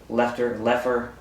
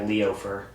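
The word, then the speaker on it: Loeffler: It's Kelly Leffer. I think that's how you say it. It looks like Leofer, but it's got 2 F's in the middle of it. It's Leo, 2 F's and an ER.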